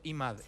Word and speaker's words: Imad: Tu ex marido, el padre de tus hijos, está bien que lo pronuncie Imad, está bien pronunciado Imad.